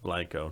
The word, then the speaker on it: Blanco: Just, The city of Blanco is actually pronounced Blanco, not Blanco.